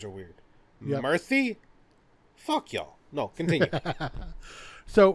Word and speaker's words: Murthy: Murthy, I'm gonna mispronounce Murphy. this. It's pronounced similar to Murphy, but it's Murphy versus Missouri.